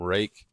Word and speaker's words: Ruike: Um, this is the first knife I've had from Rake. And my brain keeps wanting to say Reich. So, if I slip up and say that, just know it's supposed to be pronounced rake.